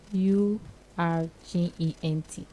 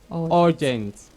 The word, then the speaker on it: urgent: out there the opportunity to learn the correct pronunciations of english words and for today's word we have u r g e n t let's take that together again u r g